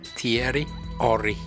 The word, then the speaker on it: Thierry Henry: Thierry Henry. That's how you say it in France.